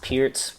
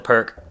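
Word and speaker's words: Pirc: uh defense for black it's spelled p RC pronounced Pierz a lot of people call it the perk um so again it's one of these hyper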